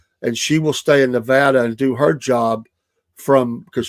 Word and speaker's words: Nevada: They live in Nevada. We got to make sure we say it right. Not Nevada.